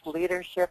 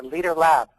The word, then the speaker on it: LDRLB: So he's finally also the founder and host of, let me try to get this right, David, LDRLB, pronounced Leadership or Leader Lab.